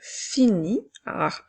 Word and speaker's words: finis: pompier je termine maintenant avec je finis je s'écrit ensuite nous avons également un S muet alors je finis qui